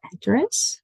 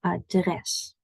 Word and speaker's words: adres: Our emphasis is on dress. Not address, maar adres. Can you hear the difference? Adres, address. So usually words in Dutch have an emphasis on the second syllable rather than the first.